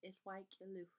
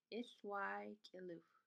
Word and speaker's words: 'iłwa'k'iliwh: And the word I heard growing up was Ithwai Kiluch. Ithwai Kiluch. Ithwai Kiluch. And there's other pronunciations with basically the same word meaning parts, but maybe the K is dropped.